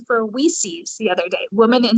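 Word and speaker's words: WiCyS: i like that i i learned about the pronunciation for we sees the other day woman in cyber security is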